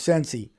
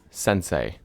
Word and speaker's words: sensei: Some of that where the ice was coming into the homestead of Sensi. Sensei.